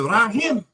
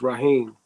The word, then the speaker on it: Raheem: there in there somewhere your name is it rim no it's Raheem see I spell it